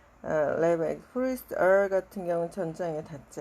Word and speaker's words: Levi: The priest, 그 제사장들, son of Levi, 레는 혀를 천장에 좀 붙여서 발음하면 이렇게 발음하면 좋아. 레바이, priest 같은 경우는 천장에 닿지 않고, sons of Levi 그러면은 레위족의 아들들이죠.